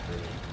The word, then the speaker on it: buoy: Some people pronounce that boy, but that is the buoy.